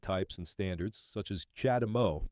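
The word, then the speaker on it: CHAdeMO: and standards such as chadam Mo pronounced charge de Mo this is a Japanese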